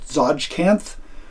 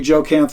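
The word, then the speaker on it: Tsojcanth: can never pronounce t-s-o-j-c-a-n-t-h i have always said it's called zodjkanth but it could be joe camp it could be a lot of different things but anyway four modules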